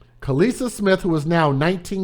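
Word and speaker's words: Khalisah: along with an individual by the name of kalisa smith which is spelled k-h-a-l-i-s-a-h hood names kalisa smith who is now 19 years old nobody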